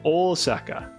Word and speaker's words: Osaka: off of um Osaka the first syllable in its name is actually very long it's Osaka uh no hold on